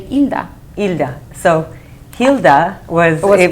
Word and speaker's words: Hilda: Normally my name in Spanish, the H is silent. So you just say Hilda.